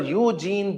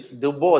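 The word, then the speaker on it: Eugène Dubois: Eugene Dubois. How they pronounce is Dubois, they pronounce.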